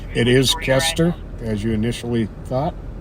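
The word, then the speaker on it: Koester: you Stephanie for letting us know the correct pronunciation it is ker as you initially thought k o e s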